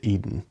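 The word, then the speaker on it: Eidyn: In the audio book, they pronounce it Eden. Um, but it is E I D Y N. Um, so the Eden Saga is uh and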